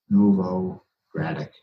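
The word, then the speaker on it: Novogradac: but it's Nova granite it's a gentleman's lastname Nouveau granite phonetically and they're they've been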